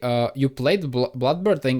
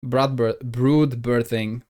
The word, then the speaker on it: Brood Birthing: Wait, Swalar, I thought you played Bloodbirthing in at least one of the versions. Brood birthing. That's the pronunciation.